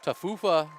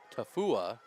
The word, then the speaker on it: Tafua: middle pass complete to TA fufa correction tafua let me pronounce his name properly uh yeah he just